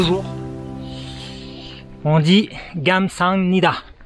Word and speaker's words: 감사합니다: On dit 감사합니다. Non, pas le G, ça prononce 감사합니다. Ah, pardon. 감사합니다.